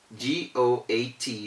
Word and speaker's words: goat: g o a t ordinarily following the individual sounds of the individual letters g-o-a-t should have been pronounced as goat but why do we call it goat we call it goats because o and a come together to produce the sound of an o sometimes they produce a